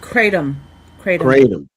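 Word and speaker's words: kratom: It's like cratom like Tatumatom.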